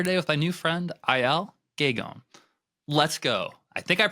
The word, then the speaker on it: Aël Guégan: Excited to be here today with my new friend, Aël Guégan. Let's go. I think I pronounced it somewhat right.